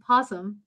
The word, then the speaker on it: opossum: so they have pouches because he has an o i don't know why people pronounce it possum there i thought they